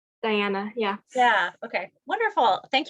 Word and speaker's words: Diana: what a great question diana make sure i'm pronouncing your name correctly diana yeah yeah okay wonderful thank you so much